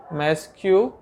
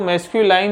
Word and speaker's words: masculine: इसको मैस्क्यूलाइन नहीं कहते हैं, काफ़ी स्टूडेंट्स इसको मैस्क्यूलाइन पढ़ते हैं। यह है मैस्क्यूलिन।